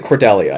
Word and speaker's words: Cordelia: pronounced it Cordelia.